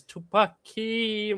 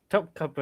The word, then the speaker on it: Topkapı: But is Tupaki manuscripts?